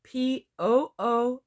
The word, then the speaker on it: Poose: Now, it can be spelled Poose or Poose, and it's pronounced like you would say the word moose.